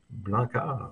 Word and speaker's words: Blancart: Loïc Blancart, qui est conseiller municipal de Saint-Lambert. Est-ce que je prononce bien Blancart? Blancard, oui.